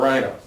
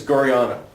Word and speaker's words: Guarino: Or Guarino. Excellent. Or Guriano. I believe it's Guriano. I think that's how you pronounce it.